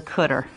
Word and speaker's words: cdr: is known as the cutter cdr car and cutter just a common pronunciation for it so let's say